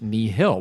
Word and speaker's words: Nihil: up that uh the knee hill is latin word meant for nothing and you pronounce it knee hill which is very helpful